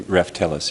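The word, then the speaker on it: Raftelis: It's similar to Stephen's question, which is, we've got later on in the agenda the approval of this firm, Reftelis, if I'm pronouncing it correctly. Reftelis, yes.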